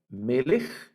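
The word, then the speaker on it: מלך: Melech es rey.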